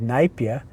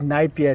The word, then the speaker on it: Napier: mentioned to me that they did say the town's name is Napier, but then the Afrikaans people started calling it Napier. Correct. Because they wanted an Afrikaans name. Yes. So they changed Napier to pronounce it like Afrikaans Napier.